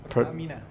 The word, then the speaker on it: Pertamina: How how do you pronounce that? Pertamina.